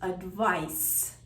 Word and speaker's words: advice: These two words sound almost identical, but one is a thing, a noun, which is advice, as in ice, and the other one is an action, a verb, advise, as in rise.